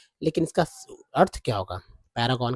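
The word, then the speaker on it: Paragon: एड्स देखे होंगे जी हां इसको शुद्ध शुद्ध उच्चारण इसका जो है आपको पता ही होगा पैरागन जी हां पैरागन पैरागन तो आपने देखा होगा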